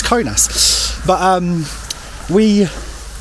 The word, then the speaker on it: Kaunas: guys um I'm I'm I'm desperate to say Kass but it doesn't I think it's conas but um we like